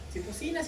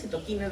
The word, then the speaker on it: citoquinas: Citocinas, citoquinas, depende cómo le quieras pronunciar, pero por ahí vamos muy bien.